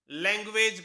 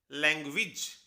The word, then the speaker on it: language: हम इसे लैंग्वेज पढ़ते हैं, लैंग्वेज, लेकिन इसकी सही प्रोनाउंसिएशन है लैंग्वेज। लैंग्वेज। इंग्लिश में AGE जिस भी वर्ड के आखिर में हो वो एज नहीं होता, वो इज हो जाता है, इसीलिए सही प्रोनाउंसिएशन हुई लैंग्वेज, और मीनिंग तो हम